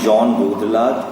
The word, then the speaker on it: Jean Baudrillard: The theory was given by Jean Baudrillard. I will spell it out, you can Google it, but please remember it's pronounced as Jean, J-E-A-N, right?